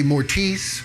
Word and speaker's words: Mortiis: thing i mean some people might say mortise mortise mortise what's up mortise who knows um um yeah i think it's just down to where you are right i mean you pronounce it mortis just like that but then like